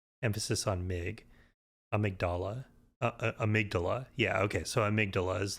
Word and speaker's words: amygdala: We had seen some of those big aliens, the amygdala, or amygdala as Patches calls them. I'm not sure which is the technically correct pronunciation there.